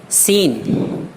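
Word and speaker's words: scene: ہے، جیسے مثال ہے سین منظر۔ دیکھیے اس میں ایس کے بعد سی ہے اور اس کے بعد ENE، تو سی نہیں پڑھا جا رہا بلکہ اس کا تلفظ س ہو رہا، سین منظر۔ سائنس اس میں بھی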